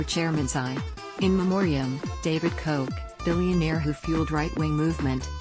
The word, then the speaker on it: Koch: Charles his older brother David Koch pronounced Koch became one of the